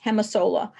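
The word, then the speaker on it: Gemasolar: m a solar and that g is pronounced like an H hemis Sola they're the ones who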